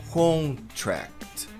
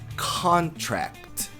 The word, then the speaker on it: contract: A maioria das pessoas pronuncia assim com, olha aquele on com contract e a tônica no final. Contract, mas a pronúncia de contrato é contract. Con não é um n, não tem G depois. Então é con. E aqui a gente tem também uma sílaba forte, contract, mas a sílaba